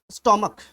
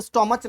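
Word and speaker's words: stomach: इस जगह पे देखिए स्टोमक, अब इसे स्टोमच नहीं पढ़ दीजिएगा, स्टोमक यानी कि पेट होता है।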